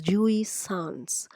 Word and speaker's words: jouissance: what is Jewish Sans you pronounce it as Jewish sounds now this is the